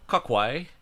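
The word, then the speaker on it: Cocuy: So it's called Kakwe.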